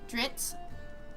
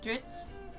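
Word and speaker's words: Drizzt: It's D R I ZT. Uh Dritz. Um, and I call him Drizzit. It just sounds better. I'm sorry, but in my head, I'm not going to read Ditz all the time. Okay. Adding that I really makes it a lot easier for me to read it.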